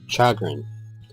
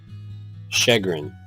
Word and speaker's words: chagrin: second this is exciting chagan it's a noun oh it's pronounced uh shagan shagan distress or embarrassment